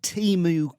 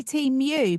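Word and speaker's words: Temu: say Team U, but yeah, James, you say Timu, don't you?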